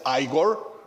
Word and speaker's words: Igor: One is to say Igor, which is, sounds a bit weird and creepy. And then the other one is like you say, there's a verb eager, and it's like more close, but yeah, Igor is also fine.